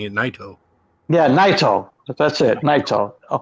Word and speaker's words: Naito: Because she's like, She says it's Naito. Naito. I call him Naito. Okay, Naito. That's it. Yes, I Americanized it. That's how I hear most of the announcers saying it. Naito.